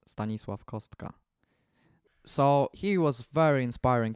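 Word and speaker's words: Stanisław Kostka: vocation is stanislauska or as we pronounce it in Poland stanislav kostka so he was very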